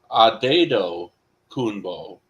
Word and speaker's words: Antetokounmpo: the baseball reference, it's Adedo Kunbo. Okay. There's no pronunciation of the M. The P at the end gets pronounced like a B, and the T's get pronounced like D's.